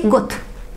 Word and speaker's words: год: If you hear, if you see at the end of Russian word the letter д, it will be pronounced like sound т. You cannot say год. No Russian will say год.